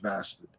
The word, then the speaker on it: Bastid: Check out Scratch Bastard. I am of the opinion now that Scratch Bastard, and I say bastard because it's spelled Bastid, is the best.